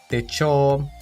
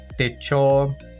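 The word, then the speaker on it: 手帳: Quanto à pronúncia, note que o hiragana yo está em um tamanho menor, marcando a contração com o hiragana chi, tornando-se cho.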